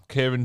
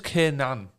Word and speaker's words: Kiernan: And the nominees are Kieran Dewsbury Hall at Leicester. His name's Kiernan. Like N-A-N, it's spelled. Kier, N-A-N, apparently.